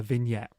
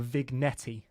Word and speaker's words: vignette: to add and that's a vignette or a vigetti as it's spelled uh I'll make another